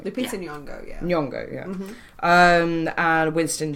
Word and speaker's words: Lupita Nyong'o: Starring Oscar winner Lupita Nyong'o. Fucking love her. I did pronounce that right. Lupita Nyong'o, yeah.